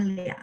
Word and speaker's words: 俩: Lia, bacanya Lia, nada 3 ya.